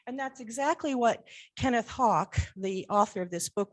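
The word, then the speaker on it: Haugk: And that's exactly what Kenneth Hawk, the author of this book, was trying to do. His name is spelled H-A-U-G-K, but I understand it's pronounced Hawk, so don't let that concern you.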